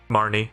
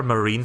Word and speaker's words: Marnie: was from turf fields Marnie yeah that was a I kept calling her marine for like most of the gaming and I had